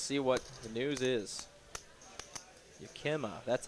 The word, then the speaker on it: Yakima: Yakima, that's how you pronounce it.